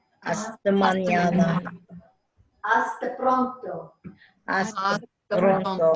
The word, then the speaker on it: pronto: Hasta pronto. Pronto. Right. Try to roll your R's. Just practice rolling your R's.